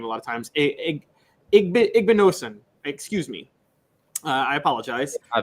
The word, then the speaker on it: Igbinosun: But Davison Igbanez, sorry, I can't even pronounce his last name a lot of times. Igbinosun, excuse me.